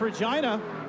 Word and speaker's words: Regina: come to us from the town that rhymes with fun that's regina looking good that yellow frs